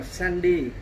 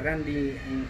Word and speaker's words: Randy: đọc với em là tên của ông đấy là Sandy, mà Sandy. Cô cứ đọc là Sandy, đó, Sandy. Nhưng mà thật sự nó là Randy, nếu theo tiếng Anh biết.